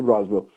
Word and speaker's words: Roswell: Roswell, pronuncia-se Roswell.